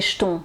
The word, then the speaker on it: jetons: sur sur l'écran donc vous avez vu ma prononciation c'est comme si euh c'était un ch que vous entendez donc avoir les jetons avoir les jetons voilà donc je coupe